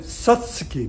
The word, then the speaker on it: Satsuki: spelled si s such su ki the Japanese pronounce it Satsuki that means the you is not pronounced so